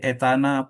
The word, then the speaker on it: etana: Ini diproses ya ada namanya kalau gas itu diproses menjadi etana, propana, butana. Kalau Indonesia bacanya etana. Kalau bahasa aslinya dibaca etan ya, propan butans ya.